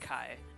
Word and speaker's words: chi: So, like I mean, we write it chi, but it's pronounced Kai.